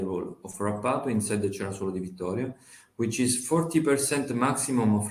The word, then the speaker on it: Cerasuolo di Vittoria: So Frappato is blended with Nero d'Avola to produce Sicily's only DOCG wine, Sarah, and I probably can't pronounce this right, Cerasolo di Vittoria. Cerasuolo di Vittoria.